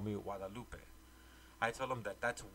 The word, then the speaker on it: Guadalupe: What's funny is how non-Spanish speaking people always want to pronounce the G in my name. They don't know that the G-U makes a W sound, like agua.